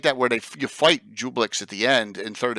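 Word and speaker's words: Juiblex: How do you pronounce it, Ed? Jublix or Dweeblix? Dweeblix is good enough. Dweeblix? It's Jublix.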